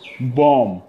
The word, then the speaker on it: bomb: So DEBT, debt, B is silent. Doubt, DOUBT. We don't say doubt, but doubt, right? Bomb, BOM, bomb.